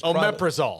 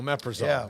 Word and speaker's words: Omeprazole: do you say that long word that is Omeprazole yeah well Omeprazole yes yeah no that was a huge win